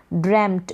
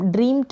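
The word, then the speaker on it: dreamt: ही ड्रेम्ट, इसको हम ड्रीम्ड नहीं पढ़ेंगे, ड्रेम्ट पढ़ेंगे।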